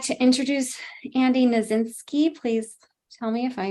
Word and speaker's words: Knasinski: and now I would like to introduce Andy nazinski please tell me if I mispronounced your name hopefully got it right and